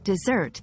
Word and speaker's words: dessert: in pronunciation is that dessert has stress on the second syllable desert well desert when